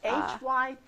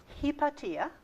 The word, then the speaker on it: Hypatia: americans don't pronounce it h-y-p-a-t-i-a she was greek so in greek it's pronounced hipatia okay not hypatia which